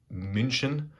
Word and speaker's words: München: So, to get things off, as you can see by this name here, I was in, some people pronounce it München, typically it's pronounced Munich, or at least that's how I pronounce it.